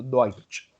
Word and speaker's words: Deutsch: EU is oi. Yeah. So doi and TSCH is ch. So Deutsch. Deutsch.